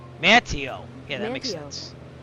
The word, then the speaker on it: Manteo: Let's see if I'm pronouncing that right because I sound like an idiot from the pronunciation. Let's see what it says. Mantio. Mantio. Yeah, that makes sense. Mantio.